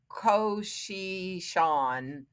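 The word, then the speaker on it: Tsuchinshan: It's not pronounced anything like it looks. It's like Koshishan Atlas.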